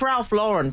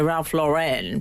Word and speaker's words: Lauren: in the old days you're right because it's Ralph luren people often say Ralph Lauren but it's an American well in the old